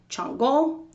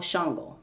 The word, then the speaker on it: Shango: So then this king is later called Chango or Shango. Depending on where you're from, that's how you pronounce it.